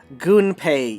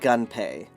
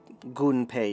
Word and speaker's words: Gunpei: and the same thing it's also goon pay yokoi not gun pay because ganpei would be ga if you were trying to uh romanize it it's gunpei yokoi the u is always pronounced shortly after the nes national